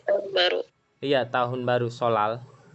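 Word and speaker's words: 설날: Nanti kita, Solnal itu apa sih? Tarik tahun baru. iya tahun baru Solal. Oh, bacanya solal, Ya, bukan solnal. Oh, double L. Niannya jadi R. Real.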